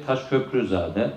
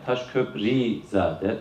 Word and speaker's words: Taşköprülüzade: Konuşmacılarımızdan sıklıkla dinlediğimiz şey Taşköprüzade, Taşköprizade, Taşköprülüzade gibi muhtelif telaffuzlar var.